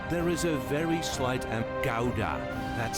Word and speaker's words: Gouda: Pretend something is stuck in your throat.